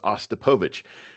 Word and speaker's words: Ostapowicz: It is spelled exactly how it sounds, Ostapowicz, which is to say that it's not at all spelled how it sounds.